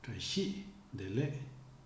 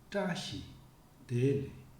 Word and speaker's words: trashi dele: As a reminder, in Tibetan, it is the last syllable of the word that is stressed, not the second last, like in the languages we are familiar with. So, say trashi dele, and never trashi dele.